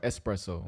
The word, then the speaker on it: espresso: Or espresso. Espresso. Is it espresso? I don't know. Espresso. There's no X.